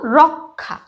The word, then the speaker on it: রক্ষা: ক আর খ যেরকম এখানে আছে একটা শব্দ রক্ষা রক্ষা যুক্তক্ষর উচ্চারণটা আমরা কি যখন রক্ষা উচ্চারণটা কিরকম করছি